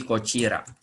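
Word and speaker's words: こちら: O, T aksen I itu huruf ci, dibacanya ci ya. Jadi kochira. Kochira koso.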